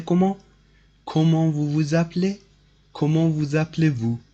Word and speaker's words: Comment vous appelez-vous: So this is pronounced like that. Comment vous appelez-vous?